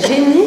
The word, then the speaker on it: Jenni: prudents à la suisse alex et génie si on prononce à la française mais à lyon vit